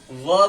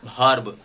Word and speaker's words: verb: वर्ब नहीं के भर्ब। जो भर्ब है वो गलत प्रोनाउंसिएशन है, वो अच्छा नहीं है, तो हमें वी का साउंड व से करना है या वाव से करना है, न के भ से करना है।